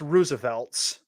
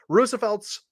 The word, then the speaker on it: RSVLTS: you're looking at right now and it is pronounced Roosevelt's uh but it's rsvlts but it's supposed to be pronounced Roosevelt's clothing uh has made available its next line